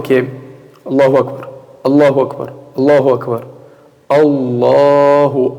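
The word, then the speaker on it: الله أكبر: E até o Hamza aqui, às vezes as pessoas, o que até o imam, quando vai falar, o que ele fala? Allahu Akbar, Allahu Akbar. Ou seja, o Hamza ele não pronuncia. Allahu Akbar. Ele vai direto o quê? Do Ra para o Kaf, com sukun. Allahu Akbar, Allahu Akbar. Ou seja, o Hamza é cortado.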